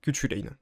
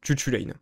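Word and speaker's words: Cú Chulainn: les celt on a kutchulin qui se prononce chchutchuain mais kutchulin c'est plus rigolo parce que les fesses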